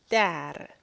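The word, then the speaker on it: در: In Farsi, it is dar. You got your D and you got your R there. Dar.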